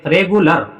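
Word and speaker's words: regular: देखिए बेटा आर ई जी यू एल ए आर इसको पढ़ेंगे रे ले रेगुलर रेगुलर मतलब इसके लिए क्या आया अ ही आया अ ही इसमें छुपा हुआ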